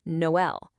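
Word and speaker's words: Noël: Noel. Without those dots, the O and E would blend together into null.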